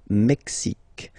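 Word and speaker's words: Mexique: Canada mexic mexic mexic it's really the mexic and then remember this Q it's only mexic okay Brazil Brazil okay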